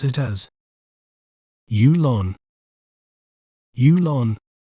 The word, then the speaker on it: Yulon: word to better understand its pronunciation we may pronounce it as ulon ulon U Lon ulon an interesting fact about